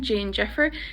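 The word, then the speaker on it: déan deifir: the first one is Dane defer Dean defer which literally means like to make a hurry or make a rush D can be pronounced like a j or a g son Jane Jeffer depending on your dialect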